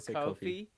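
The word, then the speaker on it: Ko-fi: we have a uh is it pronounced coffee the ko dash fi thank you yeah we have a coffee um it looks real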